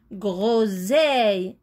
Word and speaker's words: groseille: S, œil, seille, groseille. Et ici se prononce Z parce qu'il est entre deux voyelles, entre O et E. Donc, c'est le son Z.